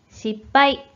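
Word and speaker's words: 失敗: 勝敗、敗戦、失敗、 승패, 패전, 실패라는 어휘가 되는데 이와 같이 실패는 빠이로 발음된다는 점에 유의해 주세요.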